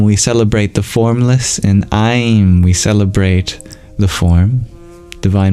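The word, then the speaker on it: Aiṃ: That means it's not your typical M sound.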